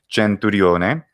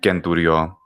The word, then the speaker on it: centurio: sound in latin well there's two i'd say preponenti pronunciations of lats and ecclesiastical which would be gentorione or centurion sorry and ken duryo in classical and princess uh says